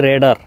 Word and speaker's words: radar: এই যে আমার পেছনে যে দেখছেন দুইটি জিনিস ঘুরছে, এগুলো হচ্ছে রেডার। যদিও বা আমরা রাডার নামেই চিনি, কিন্তু এটা সঠিক উচ্চারণ হচ্ছে রেডার।